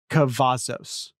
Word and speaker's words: Cavazos: I've been corrected on this. Cavazos. Three syllables. Cavazos.